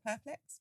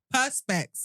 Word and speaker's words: Perspex: Perplex? Perplex. Oh, perplex. Perplex. Perspex.